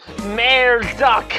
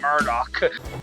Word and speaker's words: Murdoch: got my magic carpet May duck I'm sorry but what the was that pronunciation of Murdoch he has his moments